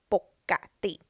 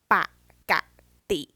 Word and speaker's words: ปกติ: normally usually as well so the first way to read it is ปกติ ปกติ and กอไก่ being an ending consonant of the first syllable the second way ปกติ you read ปอปลา and กอไก่ separately so you can read it ปกติ or ปกติ both are correct now if you know